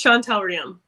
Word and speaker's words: Chonetell Reaume: club today we have shana tell ram may i pronounce that properly could you say how you pronounce your name uh it's just chantal realm awesome and today we're